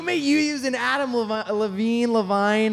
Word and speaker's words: Levine: What you may you use an Adam Levine?